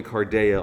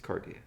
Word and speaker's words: Cardia: No, I But people call me Carda all the time, which is actually technically the Italian pronunciation, but like it's Cardia, right?